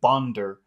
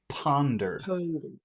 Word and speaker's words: ponder: what you're doing is you're pushing it down and you're saying bonder but it should you should be pushing it out and say Ponder okay so can you